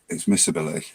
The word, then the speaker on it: miscibility: ability or miss ability depends on whether you pronounce the C or not in the middle but miss ability of liquids pronounced miscibility immiscibility yeah it's I